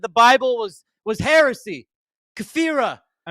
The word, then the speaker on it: kafir: What's There's no It's not Kofheer. It's caffir say I am such a nana of faith. It's the star. Learn how to pronounce it. It's kafir, not kof.